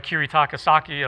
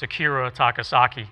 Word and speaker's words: Akira Takasaki: another type of harmonic I I learned from kirit takasaki of loudness okay where you run your hand up and down that's clever right actually I said his name wrong Akira takasaki okay sorry about that but uh you know